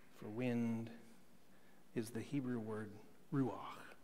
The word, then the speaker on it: ruach: You have to have that wind just kind of go, linger over your vocal cords. It's like saying my last name traditionally in German, Bach. It's the ruach. That's how you say it.